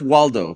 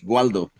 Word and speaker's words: Waldo: So, they're being But it's not pronounced Waldo, by the way. Like SP is the true Spanish pronation is guo. Waldo. Like gu. Gualdo.